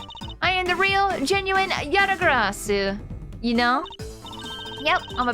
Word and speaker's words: Yatagarasu: Okay, it's actually pronounced with a su at the end?